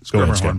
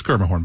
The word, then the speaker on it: Schermerhorn: Musica or the Schermerhorn that I can never pronounce or whatnot. Schermerhorn, by the way. It's Schermerhorn, by the way.